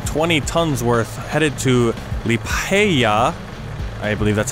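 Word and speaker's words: Liepāja: And I've got a truck full of protective clothing, 20 tons worth, headed to Liepaja. I believe that's how it's pronounced.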